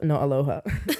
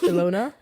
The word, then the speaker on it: Ilona: And I was going to say her name wrong, but like Aloha Maher. Is it Aloha? Not Aloha. Ilona Maher.